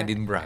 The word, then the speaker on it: Edinburgh: Tulisannya pada Edinburgh ya, tapi bacanya Edinburgh kalau buat Scottish ya.